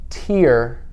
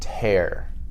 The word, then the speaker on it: tear: and tear right so t-e-a-r spells tear and tear one is when you cry then you have tears coming out of your eyes right but tear can also mean to to rip something up like a piece of paper i tear up the paper right so tear is irregular because it doesn't follow the ea rule that we usually have